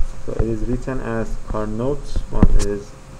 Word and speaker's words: Carnot: Carnot was a French guy, so it is written as Carnot. It is pronounced Carnot.